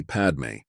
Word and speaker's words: padme: as in mama and Padme as Papa and me hum is another form